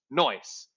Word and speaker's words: NICE: one and this gives us nice alternatively pronounced noise neural network integer programming